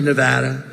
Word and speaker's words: Nevada: want to come to a state known as Nevada has anyone ever heard of it and don't ever mispronounce the name you're not allowed to do